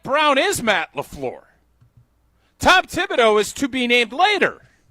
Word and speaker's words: Thibodeau: Tibido. I just want to make sure I pronounce that correctly.